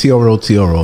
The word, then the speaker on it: tro tro: I heard it was TR Tru or something like but it's TRO TRO and those are the vans that go up and down and take you around different routes.